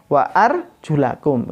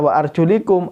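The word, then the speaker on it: وَأَرْجُلَكُمْ: Wa iyyakum Wa arjulakum kalau nanti kita tidak membaca wa arjulakum kita baca wa arjulikum artinya kaki ini tidak dibasuh tapi Kakek ini di usap jadi jangan salah bacanya harus wa arjulakum artinya basuhlah kaki-kaki kamu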